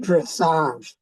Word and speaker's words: dressage: Marcus, it's pronounced dressage.